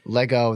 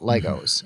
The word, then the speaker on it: Lego: very avid Lego yeah I do not say Legos anymore ever since then I just go Lego they say that's that's the official way to say it it's not Legos it's Lego I'm glad I'm glad